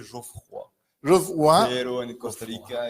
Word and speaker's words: Geoffroy: ¿Geoffrey o algo así? Bueno, con la buena pronunciación se dice Geoffroy.